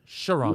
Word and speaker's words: Sharon: Actually, I got to do it in like 2 syllables, right? Sharon.